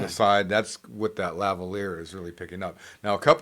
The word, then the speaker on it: lavalier: kept on, you know, the lavalier. No, that why I kept on saying, what did I call it, lavier or something? But anyways, kept on saying it wrong in the last video and forever. It's spelled kind of in a way that would make you want to say it that way.